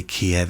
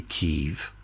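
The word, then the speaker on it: Kyiv: yeah this decided that we don't say Kiev anymore we say Kiev you know just like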